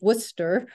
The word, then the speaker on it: Worcester: My institution, WPI, which we pronounce Worcester, Polytechnic Institute, strongly advocates for higher education professionals,